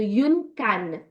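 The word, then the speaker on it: une cane: We have the word which is ending in E, right? Yeah. So, we emphatically pronounce the last consonant. So, yun can.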